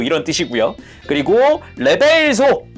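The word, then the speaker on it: reverso: 그리고 레벨소, 정확한 발음이 레벨소 막 이랬던 것 같은데 요게 이제 뒷면이란 뜻이랍니다.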